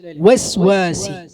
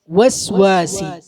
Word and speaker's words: الوسواس: ഉസ്വസി എന്നാ പറയാം. ചുണ്ട് കൂർക്കൂല. ചുണ്ട് കൂർക്കാഞ്ഞാൽ വാവിന്റെ ഉച്ചാരണം ശരിയാവൂല. മനസ്സിലായില്ലേ? വസ്വാസി വസ്വാസി വ വ ഔ ഔ അങ്ങനെയാണ് പാരായണം ചെയ്യേണ്ടത്. മിൻ ശർരിൽ വസ്വാസിൽ ഖന്നാസ്.